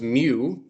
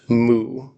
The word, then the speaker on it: mu: If you uh learned your letters from a fraternity, you probably learned that as mu, but it's actually pronounced moo.